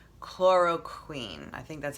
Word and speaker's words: chloroquine: And one of them is called chloroquine.